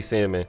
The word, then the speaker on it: salmon: however you pronounce it I say salmon the L is there I get it but it's like damn